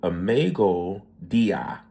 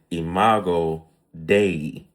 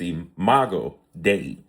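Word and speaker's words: imago Dei: So, one thing we learn is a mega a mega dia. I might have jacked that up, but it is imago day.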